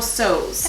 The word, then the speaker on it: Tso: so purse boone university they said that you're not supposed to pronounce the t so it's supposed to be general sews i'm gonna put the